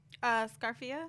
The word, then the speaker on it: Scarfia: Scarfia.